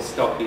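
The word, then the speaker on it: Stockie: which is meish cron I'm assuming people call stocky so rhymes with Noy then if you want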